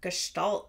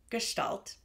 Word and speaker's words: Gestalt: get more comfortable even saying the word Gestalt sometimes seems weird because it's the sh sound where there's an S so I did look up the pronunciation just to be sure but it's Gestalt um but you might hear people say gestal too it's fine we know